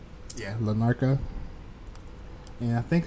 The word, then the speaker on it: Larnaca: Did I pronounce that right? Yeah, Lanarka.